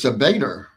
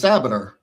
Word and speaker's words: Sabader: I've heard your name in the press conference pronounced as Sader, but I thought it was Sabader." And he said, "Yeah, you're you're correct. They're wrong."